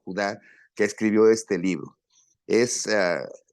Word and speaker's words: Judá: verso por verso, porque el libro de Judas o Judá, como se dice, se pronuncia en el antiguo griego y el hebreo, Judá.